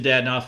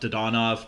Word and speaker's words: Dadonov: I think Dadonov would have some value. I don't know if you get a first-round pick in exchange for Dadonov. Probably not. I call him Dadonov. I think it's pronounced Dodonov, but my nickname for